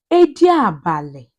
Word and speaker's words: Ediabale: Silver cat in Igbo language is called Edi or Ediabale.